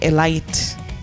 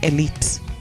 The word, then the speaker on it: elite: your composure check pronunciation we don't say alight okay we say elite okay so that confuses